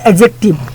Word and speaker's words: adjective: यहाँ पे जो डी है ना, डी देखो, जब ए और जे के बीच में डी आता है तो डी को साइलेंट कर देते हैं, इसे पढ़ते हैं एडजेक्टिव।